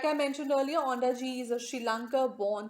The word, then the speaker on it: Ondaatje: Lankan Canadian writer, Michael Ondaatje, or Ondaatje, sorry, I always pronounce it wrong. The T will be silent here, Ondaatje.